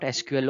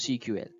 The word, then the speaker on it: SQL: going to learn about sql or cql both pronunciations give the same meaning in our previous tutorials